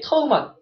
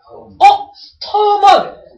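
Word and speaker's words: 土門: 터먼. 터먼. 발음이 뭐랑 비슷해요? 토문? 두만강이요. 그래서 우리나라 때는 이걸 토문이다. 근데 터먼 발음이 중국의 두만이 똑같거든.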